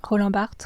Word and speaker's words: Roland Barthes: Roland Barthes. Well, how do you say it in French? Roland Barthes.